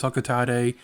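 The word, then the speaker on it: Hocotate: up for another expedition i know the official pronunciation is alcatel i don't like that pronounciation i'm gonna call it huckatee until i'm dead on that note hey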